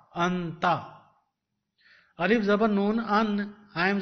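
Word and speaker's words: أنت: Alif zabar noon an, te zabar ta, anta.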